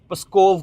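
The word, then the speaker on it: Псков: Border की nearest city है भाई ये, PSKOV, पस्कोव करके है, स्कोव बोलते हैं इसको, इसकी प्रोनाउंसिएशन है स्कोव।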